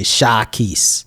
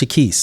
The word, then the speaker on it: Shekeese: I was like, bro, it's not Shekeese, it's just Shekeese, like the Reese or the East.